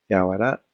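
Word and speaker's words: Haavara: del acuerdo de avara la palabra avara avara con énfasis en la última sílaba significa en hebreo transferencia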